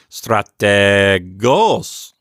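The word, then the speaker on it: στρατηγός: it to help myself remember that the accent is on the final syllable I might say something silly like this I might say strategos yeah and I might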